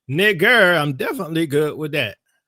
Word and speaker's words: Niger: I showed you Strong's pronounce it as nigger, not Niger.